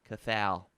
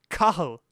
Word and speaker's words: Cathal: Cathal. Cathal. Cathal. You want me to tell you what it is? Yeah. That's funny. Cahill.